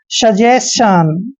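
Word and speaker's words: suggestion: यानी कि इसको हमने पढ़ना है सजेशन।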